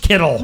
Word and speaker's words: Kittle: He rhymes with Skittles. Yeah. Oh, is it Oh, KD plays out there. George KD.